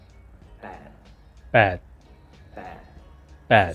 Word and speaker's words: แปด: So don't worry too much about it being like a B or a P. Just close your mouth and try and say it. Bad.